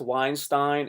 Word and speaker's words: Weinstein: If you're Jewish and the last five or so letters are a toss up between Steen and Stein, oh no, no, no, no, no, no.